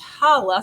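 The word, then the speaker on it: challah: with raisins called chala chala is pronounced holla says i was saying it wrong and is made with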